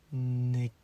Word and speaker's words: negentropy: How to pronounce negentropy. I think that's right. I hope it's right. I should look it up. - "Negentropy". - "Negentropy"! OK. I was right about the "gen". I got that feeling.